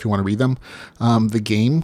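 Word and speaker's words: The Gam3: The game, which is spelled GAM3, World Seed, Futuristic Dungeon Core, Continue Online, Phantom Server, Office Wars.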